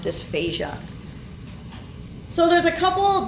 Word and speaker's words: dysphasia: difficulty swallowing so remember if it's spelled with an S it means difficulty singing and that's pronounced dysphasia so there's a couple